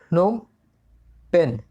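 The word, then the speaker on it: Phnom Penh: इसका प्रोनाउंसिएशन आप जो कर लें, PHNOM, नोम पेन।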